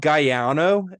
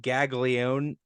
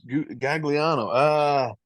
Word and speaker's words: Gagliano: Is it Bob Gaiano? Is that how you pronounce that? It's Bob Gaglione. Gagliano is how it kind of is spelt.